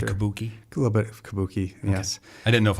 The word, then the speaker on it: Kabuki: is that the Kabuki a little bit of Kabuki yes I didn't know if I was pronouncing yeah correctly that's correct so I call